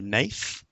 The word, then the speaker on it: Naath: she pronounced it Naath.